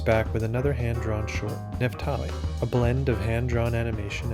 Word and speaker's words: Nephtali: I'll let you pronounce it so I don't botch it. Nephtali.